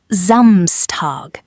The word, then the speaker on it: Samstag: Day six, Zamstag, Saturday. Pronounced Zamstar.